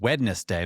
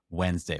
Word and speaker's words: Wednesday: hesitate because I'm like it's wedness day but no I have to stop myself correct myself and say Wednesday but my natural thing is if there's a t I'm going to I'm going to pronounce the whole thing there's a criticism in